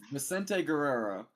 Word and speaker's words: Vicente Guerrero: We've been saying Vicente Guerrero. Yeah, that's correct.